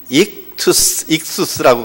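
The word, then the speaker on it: ἰχθύς: 보통 익수스라고 그렇게 발음을 합니다.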